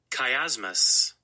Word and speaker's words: chiasmus: Now I have to really write it out like it sounds. Chiasmus. Because if I look the way it's spelled, I probably would never get it right.